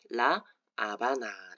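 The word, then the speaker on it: La Habana: 아바나 아고 할 때 h n 무음입니다 그래서 하바나라인 어 쿠바의 수도는 스페인식 발음으로는 라 아바라 읽는다는 점 그리고 영문 표기 조금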